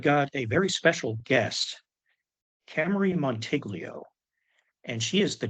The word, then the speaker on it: Camarie: I want to say it right, Camarie. Just think of the car.